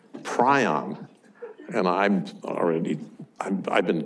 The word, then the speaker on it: prion: pulled out Webster's unabridged dictionary and there is PRI o N it's a bird it's a petrol bird that